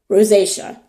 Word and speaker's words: rosacea: Rosacea. I have rosacea.